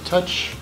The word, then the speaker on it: Tuch: There's Alec Tuch, or Touch, Tuch. Oh, it helps you on the back. It's Alex Tuch.